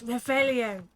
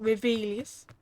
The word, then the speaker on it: Revelio: It's Revelio, not Revelius.